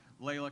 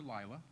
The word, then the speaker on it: Layla: We're next going to hear from Professor Layla Kazemian. And those of you who see her name on the agenda, don't call her Lila. Her name is spelled L-I-L-A, but it's Layla.